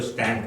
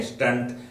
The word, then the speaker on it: stent: कभी किसी रिलेटिव को स्टेंट हुआ होगा कुछ लोग इसको उच्चारण करते हैं स्टंट बट ये स्टेंट है एस टी E anti स्टेंट तो स्टैंट क्या है